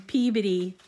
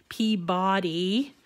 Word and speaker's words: Peabody: couple of days ago, we did trivia on Peabody, my city, the city of Peabody, because I was talking about how we name the name of it is actually spelled Peabody, and that's the way most everybody wants to